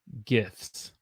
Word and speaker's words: gifts: That word is pronounced gifts. So the T is silent. We don't say the T.